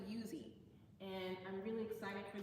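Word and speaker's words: Uzee: For years I was saying Uzi Brown because it's spelled U Z E. Um, but you pronounce it Yuzi.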